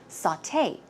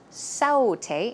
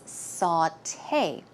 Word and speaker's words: sauté: or preparing food and it's pronounced sauté sauté it's not saute it's sauté and recipe you may